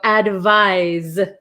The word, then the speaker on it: advise: understand how you feel so advise advise Z so I'll write this is like an S and this is like a z why do they do